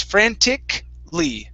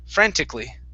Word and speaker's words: frantically: of those words where we do not say frantically okay and pronounce that that a here in the middle all we say is frantic lee frantically frantically okay nice job